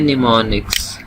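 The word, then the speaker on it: mnemonics: है ना, ये वाले, इनको हम कहते हैं निमोनिक्स, ठीक है जी। एम इसका साइलेंट रहेगा।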